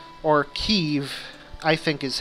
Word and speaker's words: Kyiv: There are 2 in Kiev, or Kyiv, I think is how the Ukrainians pronounce it.